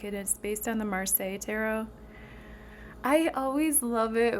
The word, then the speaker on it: Marseille: I always love it when I'm watching people's videos and they call it like Marces or something or they say like Marcels or I don't know, but it's Marseille. It's pronounced Marseille.